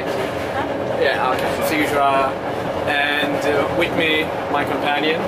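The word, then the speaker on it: Timișoara: Yeah, okay, Timisoara.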